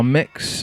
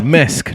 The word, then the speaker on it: Mesk: Produced by Mex. What am I kind of. He's on my label and I've got his name wrong. Mesk, not Mex.